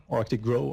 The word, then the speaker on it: Arctic GRO: What used to be called the Partners Project, and it's now the Arctic Great Rivers Observatory, Arctic GRO, Arctic GROW, maybe it should be pronounced.